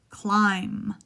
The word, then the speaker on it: climb: Climb, climbed. Remember, this is a silent B.